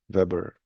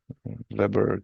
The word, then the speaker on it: weber: And units for flux is Weber. Weber, like your favorite grill. Weber company, manufacturer of grills for your outdoor cooking.